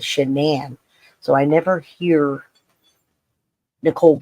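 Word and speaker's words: Shanann: gets life in prison the dad calls her or shannan's dad calls her Shannon and other people call her Shannon too because they don't know her name but her name she pronounced it as shenan so I never hear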